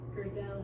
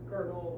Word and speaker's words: Gödel: Gödel has an umlaut. Ah, you're right. Yeah. Now, I also don't know how to pronounce it.